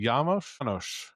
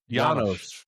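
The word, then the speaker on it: Janosz: that's brilliant but god why do they keep mispronouncing yamos yanos That's a Y.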